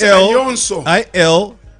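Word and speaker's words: Aljoša: Because I saw It's Alonso. It's Alonso. ALJOSA. Then I've also seen AI. The one AI I saw it on. I think The on J ZNBC. is silent. The J is silent.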